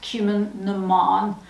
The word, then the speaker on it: Cumann na mBan: It's pronounced Cumann na mBan.